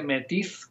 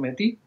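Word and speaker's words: Métis: Eh, que se escribe, bueno, se escribe Metis, pero ellos pronuncian Metí.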